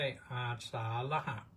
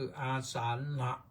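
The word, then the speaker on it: อาสาฬหะ: ก็ ถาม ว่า แล้ว ออก เสียง ว่า อาสาหะ ได้ มั้ย ได้ แต่ มัน ผิด ได้ แต่ มัน ผิด นะ ให้ รู้ ว่า ผิด ก็ แล้ว กัน นะ ออก ให้ ถูก ก็ คือ อาสานหะ ละหะ นี่ มัน ออก เสียง ควบ กล้ำ เหมือน ประ อย่าง นะ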